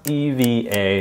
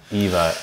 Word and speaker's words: EVA: world according to Condon ass and yes it's pronounced Eva not Eva Airways video I'm going to walk you through